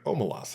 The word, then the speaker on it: Omelas: felt like it with nothing but the word omalas in mind. Um, Luin stated that the city's name is pronounced Omalas.